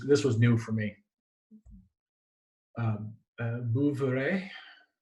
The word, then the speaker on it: Bouveret: Bouveret. If you're French, you'd never pronounce the last word or last letter. Why would you?